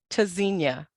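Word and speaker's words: Tzynya: Pronounced Tazinia, verb from Hebrew, meaning to listen for or hear. Spelled T-Z-Y-N-Y-A. The first letter T is a hard stop, disrupts airflow.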